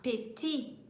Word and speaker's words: petit: Para começar, então, pequeno, eu vou falar petit.